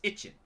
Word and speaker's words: İçin: Yeah, Itchin, which is spelled I-C-I-N, is pronounced Itchin.